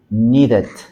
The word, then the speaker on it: needed: Needed. Need. Y aquí pues también tenemos un sonido de flap t, eh, flap t, en este caso, flap d porque está entre vocales.